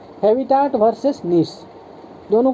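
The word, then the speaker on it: niche: है ना ऑर्गेनिज्म्स का उसी को हम निश कहते हैं क्या कहते हैं निश कहते हैं स्पेलिंग समझिए एन आई सी एच ई निश ठीक है तो यह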